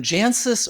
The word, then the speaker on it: Jancis: And then Jancis Robinson, yes, I pronounced it right this time, so don't write to me.